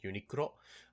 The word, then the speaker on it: Uniqlo: I think in English they call it Uniqlo, but because it's you know it's a Japanese spin-off of the English word unique. But usually I pronounce it with the Japanese pronunciation, so it's like Uniqlo.